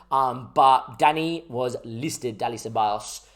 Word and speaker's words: Ceballos: Tell me how you would pronounce this. I say Ceballos. But some people say Ceballos and all those sort of things. I say Ceballos. Sebi Bios, or, I figured like the golfer, like Sebi Bios, that used to, win